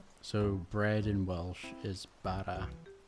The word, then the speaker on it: bara: So bread is B A R A bar and then the R is a little bit more like a like very it's like subtle.